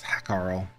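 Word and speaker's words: Hákarl: But realistically, this is Hakarl, I think is Hakarl, which is the proper way to pronounce it.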